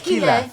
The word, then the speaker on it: Keyleth: That's how it's spelled. Keyleth.